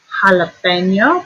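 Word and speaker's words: jalapeño: Jalapeno, back up here with our dig, and it's the H sound.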